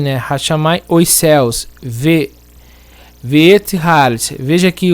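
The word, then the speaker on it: הארץ: Porque quando está com artigo, Haaretz, o Aleph muda de pronúncia.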